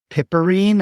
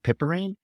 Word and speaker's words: piperine: black pepper called I I'm not sure how to pronounce it but it's piperine I think p i p e r i n e pepperine anyways if you could